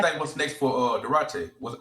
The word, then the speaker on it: Duarte: What's next for uh Date? Was how you pronounc his name? Dwarte.